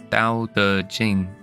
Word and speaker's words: Tao Te Ching: Tao Te Ching is actually pronounced more similarly to Tao Te Ching and means classics of Tao and De.